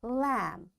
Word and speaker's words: lamb: That's why this B is coming after M, this B will be silent. We will say comb, tomb, bomb, thumb, climb, and lamb. In all these words, you can see B is silent. Why? Because before B, there is M. So this M is making this B silent, and we don't pronounce it.